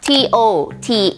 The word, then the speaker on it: TOTAL: ไม่ ใช่ นะ คะ แบรนด์ ของ เรา t o t a อ่าน ว่า TOT ขาย เครื่อง มือ ช่าง